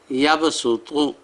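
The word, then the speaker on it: يبسط: سین لکھا ہوتا ہے، ان مقامات میں خاص صاد کی آواز سے پڑھیں، خاصین کی آواز سے، دونوں طرح جائز ہے۔ تو سورہ بقرہ کا رکوع نمبر 32 میں لفظ ہے یبسطو صاد کے ساتھ، اور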